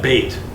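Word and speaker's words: בית: it again B or D no that's th bait okay yes all this bait and so if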